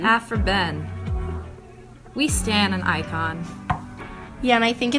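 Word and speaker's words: Aphra Behn: Olivia, do you think I could get your help pronouncing a name? Aphra-Behn. Aphra-Behn.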